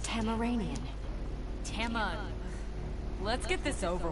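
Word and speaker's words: Tamaranean: So you're Tasmanian. It is pronounced Tamaranian.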